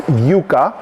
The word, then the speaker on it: yuca: obviously corn and then yucca which we pronounce yuca that it comes in